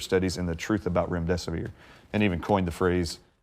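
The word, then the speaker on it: remdesivir: and the truth about Rim death of year and even coined the phrase if you can't remember what the name is just it rhymes with run death is near and that has literally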